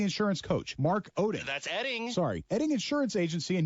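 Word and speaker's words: Oetting: It's pronounced Edding. But it's spelled O-E-T-T-I-N-G. Yes, and O-E-T-T-I-N-G. It's pronounced Edding. Okay, so it's like the O is silent, O-E-T-T-I-N-G is Edding. Got it. Take two. Mark Edding of Edding Insurance Agency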